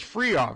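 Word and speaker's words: Fryhauf: Free Off. It's spelled F-R-Y-H-A-U-F, like Freihof.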